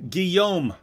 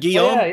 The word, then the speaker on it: Guillaume: by Alfred yo Ghulam a how do you pronounce that again is a Gilmour Ghulam a Guillaume just like just like like like my friend Guillaume my French friend Gil that's the same as